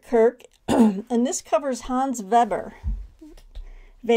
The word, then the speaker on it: Weber: This is Patrick Kirk, and this covers Hans Weber. We would pronounce it Weber, but in German it'd be Weber, right?